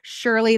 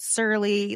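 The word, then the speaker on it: Surely: Like Shirley, the non-alcoholic wine, I used to call it Surly.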